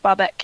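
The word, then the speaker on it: Bahebeck: Against the run of play, they only had 1 or 2 chances, but your boy Barbeck, is that how you pronounce it? Jean-Christophe Barbeck, yes.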